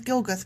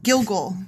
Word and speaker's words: Gilgal: I want to call this place Gilgus. Gilgus. There. Done. Gilgus. There it is. I did it. Yeah. When the Israelites were camped at Gilgal Oh, I said it wrong. Gilgal.